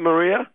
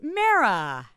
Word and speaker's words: Mara: Hey, is that Maria? It's Mara. Mara? How are you today? How do you pronounce it? It's Mara, like marathon or marijuana.